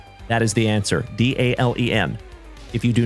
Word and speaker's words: Dalen: My name is Dalen. D A L E N like Dale plus N.